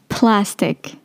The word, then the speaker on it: plastic: Plastic، ديجا كي نطقو هنا ديجا الكلمة الأولى بون بلاستيك باينة بصح، بس يترو ماركي وكاين في لونجلي يعيطولو aspirated p. الp هذاك فيه الهواء بزاف. plastic شغل بلاستيك.